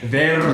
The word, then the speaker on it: Verde: Verde. Let's hear it. Actually, Matthew McConaughey pronounces it so well. Really? He rolls that R? Oh yeah. This guy over here is rolling his R's.